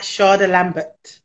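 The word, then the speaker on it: Shada Lambert: me on linkedin at sharda lambert okay no r yeah even though it's pronounced that way so s-h-a-d-a l-a-m-b-e-r-t charlie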